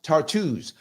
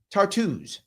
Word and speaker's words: Tartus: Thomas says it's pronounced Tartus. Oh, thank you. I did not know how it was pronounced. Tartus. There we go. That's how you pronounce that port. Tartus.